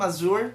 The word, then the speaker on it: Azure: issue ah dito between Team Azure no ah yun yung tamang pronunciation Team Azure no and ah dito